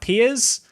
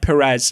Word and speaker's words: Perez: told by the way Perez his name is kind of pronounced more like Piers I believe but I like Perez right it makes me